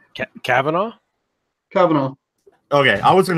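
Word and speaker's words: Kavanaugh: Court pick um first off how do you pronounce his last name Cavanaugh Cavanaugh okay I was in a butchery I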